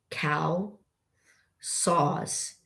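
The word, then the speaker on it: CalSAWS: C A L S A W S cow saws.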